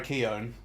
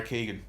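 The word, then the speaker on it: Keoghan: one kid played by Barry Keown who I've previously mispronounces by Keegan he's Irish I know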